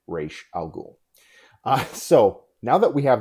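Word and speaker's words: Ra's al Ghul: google his daughter actually took the name to the language department at her university and asked someone to say to to pronounce it correctly and it is indeed reish al ghul so now that we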